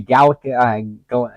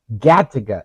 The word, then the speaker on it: Gattaca: This reminds me of if you guys ever saw the movie Gattaca. Is that how you pronounce it? Gattaca.